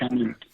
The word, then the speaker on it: Chanute: And it's pronounced Chanute.